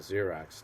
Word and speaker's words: Xerox: strange thing about x when it starts a word is that it's really a z right it's pronounced z so why do they